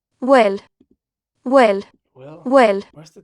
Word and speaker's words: bhfuil: This is pronounced will, right? So the B, if you come across this in school, you're like, what are the BH doing here? It doesn't sound like anything.